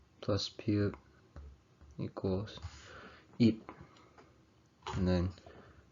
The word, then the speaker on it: 잎: The 피읍 받침 has a P sound at the end. So for example, E plus 피읍 would be 잎.